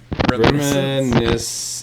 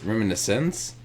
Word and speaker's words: Reminiscence: Reminiscing. Reminiscence. That's how it's pronounced?